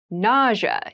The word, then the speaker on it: nausea: rash ity rash nausea NAA NAA NAA is a very interesting word with an interesting spelling nausea is the pronunciation nausea refers to a